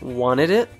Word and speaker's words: wanted it: Did you notice how he pronounced wanted it as wanted it? We usually reduce or remove the T sound when it's after an N sound.